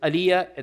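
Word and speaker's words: Alija: Uh his name is Aliyah. There's a J in it but the J is pronounced Y.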